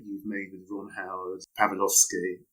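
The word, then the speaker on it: Pawlikowski: made with Ron Howard, Pavlovsky. Is that the correct pronunciation? I think it's Pavlikowski.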